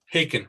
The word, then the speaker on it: Haken: So, Haken rhymes with bacon.